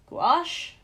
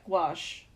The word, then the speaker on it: gouache: P I definitely misspelled that how do you pronounce that here we go gouache yeah gouache okay well now I know it's like yeah